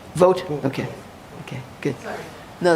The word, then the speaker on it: Vogt: It's pronounced Vogt.